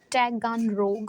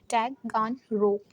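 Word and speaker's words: Taganrog: दिक्कत दे रहा है टैगान रोग ओके टैगान रोग आप लोग ऐसे बोल सकते हैं सटोन चिकोब का जो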